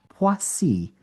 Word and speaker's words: Poissy: And the way I understand the non-phonetic pronunciation, because you got to remember French, like half the letters are silent or they have a different tonality. So I asked my wife, because she speaks French, it's Poissy.